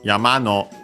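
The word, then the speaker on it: 山: very top, we have Yamano Pokemon. Uh yeah, first we have for most of yama mountain should be accent on the last syllable.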